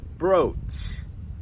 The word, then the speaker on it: brooch: jewelry a lot, and that word is "brooch" "brooch". It just has the O sound, and remember when you make "o" in English, "Ou", your mouth moves.